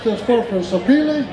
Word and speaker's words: Sapele: Just finished this year, constructed from, Robert, how do you pronounce this first one? Sapele? Sapele.